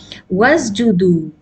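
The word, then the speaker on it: وَاسْجُدُوا: means prostrate, make ruku, wasjudu. Now here you will pronounce irka'u, but here because of the waw atf you cannot pronounce this hamzatul wasl.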